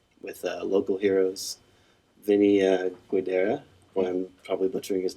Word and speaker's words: Guidera: on 20th and P, with local heroes Vinny Guidera. Well, I'm probably butchering his name. Sorry. Is that how you say it? Yeah. You should know Gadara.